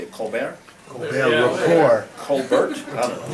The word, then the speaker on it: Colbert: News, ABC, CBS, NBC, Univision, and Telemundo, the Colbert Report, and NPR. That's how you say it, Colbert?